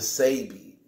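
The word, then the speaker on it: Sebi: s e bi but the S II and pronounced say okay so doctor say be doctor say be who's a herbal hillier the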